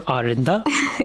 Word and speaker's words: Aarinda: Arinda? Yeah. Arinda, ऐसे pronounce करते हैं? Yeah, you pronounced it correctly.